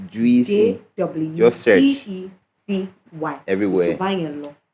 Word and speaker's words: Jweecy: Jweecy, like as it's pronounced, Jweecy.